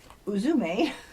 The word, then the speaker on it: Uzume: goddess Oracle is laughter so Izumi pronounced uzume ancient Japan's Shaman goddess